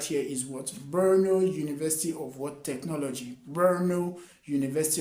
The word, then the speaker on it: Brno: So the first university I have right here is Brno University of Technology. Brno University of Technology. It's spelled as BRNO.